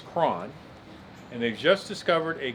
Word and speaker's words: Croghan: The pronunciation is Cron.